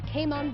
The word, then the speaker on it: Cayman: of three islands and as they're pronounced here they are came on Brock little came on and grand came on here we are right